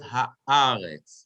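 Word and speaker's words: הָאָרֶץ: And since that vertical line is under the aleph, we read it haaretz, right? The accent is on the aleph, haaretz.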